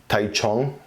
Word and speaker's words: Taichung: It does say, I think it's called Taichung. That's my best pronunciation right there.